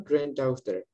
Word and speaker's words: granddaughter: laki-laki greensand cucu perempuan granddaughter daftar g-nya nggak kita baca karena gitu kita dapati